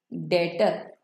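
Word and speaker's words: debtor: बोलेंगे mister B इज माय डेटर बी is silent तो डेटर mister B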